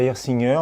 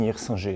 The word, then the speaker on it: Hirsinger: À l'alsacienne, ça sera Hirsinger, et sinon, à la parisienne, Hirsinger. C'est vraiment comme vous voulez.